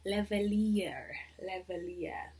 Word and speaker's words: lavalier: Lavalier.